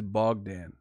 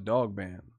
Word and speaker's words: Bogdan: I think it's Bogdan. I thought it was Dog Band.